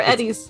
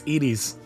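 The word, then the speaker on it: Edy's: initially opened in 1990 is it edies or Edy it's edies I watched an old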